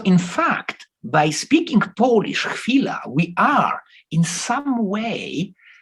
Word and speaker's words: chwila: But the Polish word for that is chwila.